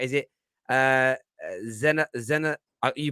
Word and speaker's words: Zaniolo: to pronounce his name right is it uh zena zenna you pronounce it zen hello no i want to hear you now i